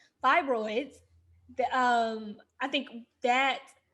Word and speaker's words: fibroids: i think with the fry boys i keep saying fry boy it's all incorrectly i don't know i know how to say this word but fibroids the um i think